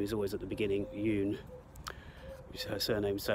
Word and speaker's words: 윤: word the surname is always at the beginning yoon which is her surname so it's the other